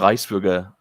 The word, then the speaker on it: Reichsbürger: much dissident energy, because the Reichsbürger, as a German would pronounce it, have become the most acceptable of the acceptable targets.